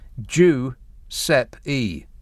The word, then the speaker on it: Giuseppe: my help and assistance in brackets it's got pronounced jew sep e yeah i know i know that giuseppe uh juice apple juice yeah stuff there and